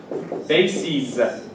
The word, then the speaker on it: bases: Bases. Basis. The pronunciation changes. Basis, bases. Analysis, analyses. Crisis, maybe the best word here in this category.